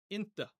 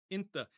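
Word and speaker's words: أنت: Sometimes this will be spelled with an A at the end, other times with an E, but whether you hear inta or inta, it means you in the masculine singular.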